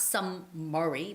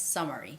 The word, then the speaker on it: summary: and summary summary so although there might be two m's in a word you don't necessarily have to make you know two distinguished sounds for each m so it's it's not some murray but it's summary summary it's not some mer